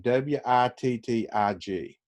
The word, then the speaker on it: Wittig: uh first of all how would you pronounce that name w-i-t-t-i-g some people will pronounce it as the wittig reaction and some will pronounce it as the wittig reaction uh obviously this is a german chemist and oftentimes they produce pronounce their w's as v's i'll pronounce it as